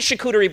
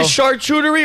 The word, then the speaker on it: charcuterie: If you want to eat charcuterie boards, go ahead.